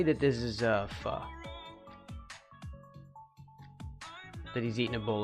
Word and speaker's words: pho: It's supposed to be pho. Pho. Pho. Like that. It's got like a little apostrophe thingy over the O.